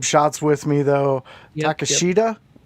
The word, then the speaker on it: Takeshita: Yep, Takeshita? Tateska. Yes. I hate the way it's not spelled. able to read. Yeah. I know. It don't look like no damn Takesta the way it's spelled.